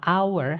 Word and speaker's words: hour: Nah itu walaupun tulisannya hour itu hour pakai h ya, tapi bacanya adalah hour, hanya nggak dibaca.